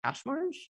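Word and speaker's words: Kaczmarz: algebra algorithm called randomized, I think it's pronounced cache-marge.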